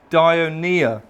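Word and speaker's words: Dionaea: says on there Harry that's a derp not a Bertha's that's pronounced dire Nia and that is the Latin genus name of Venus flytraps at all of those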